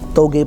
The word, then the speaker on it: TOGE: Twitter no game productions it's a bit hard because we pronounce it in an Indonesian way but it's t OGE togi productions after the productions